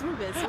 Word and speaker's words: rooibos: Are you sure that's how you pronounce it? Yeah, it's rooibos.